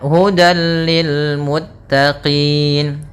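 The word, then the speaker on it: هُدًى لِلْمُتَّقِينَ: Maka tanwin diapakan dimasukkan kepada huruf lam, tapi tidak boleh ditahan, tidak boleh hudal, akan tetapi hanya idgham saja, dan dia termasuk idgham kamil yang sempurna. Ya, hudal lil muttaqin, langsung ke lam dan tidak ditahan.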